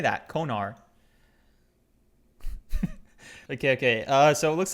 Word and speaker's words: Konar: Konar.